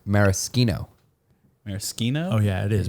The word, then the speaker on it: maraschino: How's it pronounced, Lex? I was actually wrong last time I corrected you. It's maraschino.